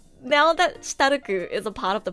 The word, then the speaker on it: Stark: That's why I say their names in the Japanese pronunciation, so it's like less confusing. Furiren, Ferun, Shitaruku. I can't even say their names in English. Because if I say Shitaruku's name in English, it'd be Stark, which sounds weird.